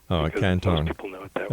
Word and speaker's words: Canton: ordained a Taoist monk in, how do you pronounce that? Well, you can just say Canton. Oh, Canton.